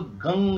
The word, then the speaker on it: गं: गा के ऊपर अम की बिंदी है, उसको गंग बोलते हैं, माने उच्चारण ऐसा, ओम गंग गणपतये नमः।